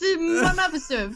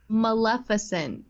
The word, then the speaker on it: Maleficent: Like, just Malnificent for your health.